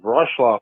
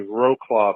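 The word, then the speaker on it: Wrocław: l a w but the W's are like a V so it's brl brl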